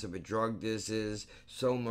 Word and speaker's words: Soma: a drug this is soma rhymes with coma you're on a speed